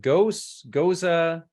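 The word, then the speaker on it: Gose: Do you pronounce it Goza? What's the proper pronunciation? I pronounce it Goza. I've got a few Goza? people on my team that pronounce it Goes. So we're not too particular, but yeah, it's a fun one.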